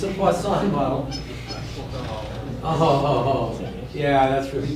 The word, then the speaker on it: Poisson: variable that we're going to test with our Poisson, which I pronounced poorly, I'm sure. Yes, thank you. How should it be pronounced? Poisson.